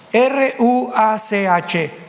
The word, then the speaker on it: ruach: Apunten todos ustedes, los que les interesa en su Biblia la palabra espíritu, que es la palabra se escribe ruash. R u a c h.